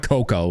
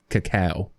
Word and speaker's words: cacao: It's not cocoa. It's cacao.